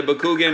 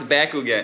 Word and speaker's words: Bakugan: no can't do it either um and the bakugan is gonna end up being back again it